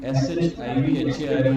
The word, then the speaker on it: Shivhar: Actually, SHIVHAR is real pronunciation, but because my father was in Air